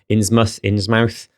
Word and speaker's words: Innsmouth: In the UK, I think we'd pronounce the mouth as muth, because I had a friend who was from somewhere that was something mouth and it was something muth. Innsmouth.